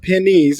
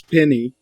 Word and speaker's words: Penny: It's not pennies, it's penny.